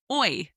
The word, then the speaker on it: hoy: So let's start with the temporal adverb, the describing word for today, which is hoy. Hoy, spelt H-O-Y. Hoy. Remember that the H in Spanish is silent.